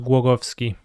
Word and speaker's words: Głogowski: My name is pronounced Głogowski. But in Polish, W is pronounced different than W in English, so it's also a tricky question.